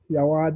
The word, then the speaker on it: Yawa: How you pronounce that thing to Yawa The Adventure.